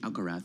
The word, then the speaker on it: Alcaraz: So we're hoping for a repeat Alcaraz. of Alcaraz. Alcaraz. Like it ends with a TH. Alcaraz.